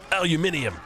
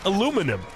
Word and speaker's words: aluminium: steel not not steel aluminium or as the Americans say aluminum sorry I I like